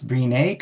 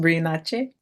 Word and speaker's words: Brinache: It's Breenake or Breenash. It's been called a lot of things from different people, but it's pronounced Brinache. Oh, It, Brinache.